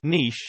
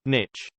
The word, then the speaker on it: niche: Niche is pronounced niche, not niche.